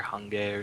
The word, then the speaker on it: Hange: supposed to be Hanji or Hange or something. It's Hange because that's what the that's how it would be pronounced in Japanese.